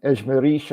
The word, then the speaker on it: Ejmerish: Mia Ejmerish, I believe the accent's on the final syllable in her name, as I've heard her say it.